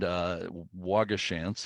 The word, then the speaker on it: Waugoshance: And Waugoshance, and I think that's how it's pronounced around there, is from a Native American word for fox.